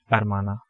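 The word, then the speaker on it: hermana: And I told you before that the word starting with A, we generally have H, H silent. So the pronunciation of this, it is going to be Armana and Armano.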